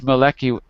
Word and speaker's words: Maliki: relatively stable even if maleki how do you say his name uh malaki i forgot how to say pronounce his name right maliki yes okay even if he's our